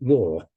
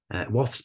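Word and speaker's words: Waugh: dialect poet Edwin W and I understand it's pronounced WF not war he wrote kwam to the children and me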